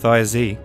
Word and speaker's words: Thjazi: The terrified god begged the eagle to release him, but the eagle – who was none other than Thjazi (pronounced “THYAH-zee”) the giant in disguise – refused to do so until Loki swore an oath to bring him Idun and her fruits.